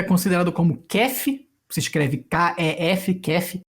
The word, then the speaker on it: kef: A Armênia também tem uma dança tradicional que é considerada como kef, se escreve K-E-F, kef, e que geralmente é dançada ao som da música folk tradicional armênia, esse duduk.